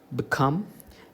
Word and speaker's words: become: Okay, it is below, become, begin, believe, beside. Give primary stress to the second syllable.